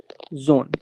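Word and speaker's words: Sohn: ये हो जाएगा जोन।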